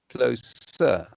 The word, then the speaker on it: closer: closer to them and closer be careful closer you see that the difference between uh clothes and the verb to close i know the verb to close it's like his sound yes he went closer to